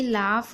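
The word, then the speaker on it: laugh: है दोनों में ही लाफ और यहां पर कॉट यहां पर देख रहे हैं यू जी एच टी है तो यहां पर यू साइलेंट है।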